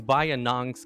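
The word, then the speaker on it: Bayinnaung: only european civ to make an appearance in bayannong's campaign what is bayan what is that yeah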